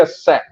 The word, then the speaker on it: Say: do verbo dizer em inglês mas não é sei essa terra para que se trata de um economista economista francês do século 19 Então se pronuncia essa embora que não seja o presentão Henrique você